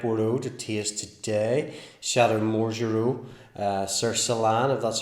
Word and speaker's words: Marjureau-Sercillan: got a red border to tears today shattered more Giroux sir Solana that's how you pronounce it Bordeaux superior so what does Bordeaux